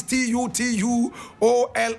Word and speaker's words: Tutuola: Amos is spelled A-M-O-S. Tutuola is T-U-T-U-O-L-A.